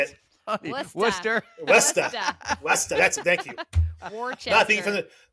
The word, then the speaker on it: Worcester: Westa.